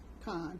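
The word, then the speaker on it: Cahn: n j o h n t h n con c a h n Return of the Gods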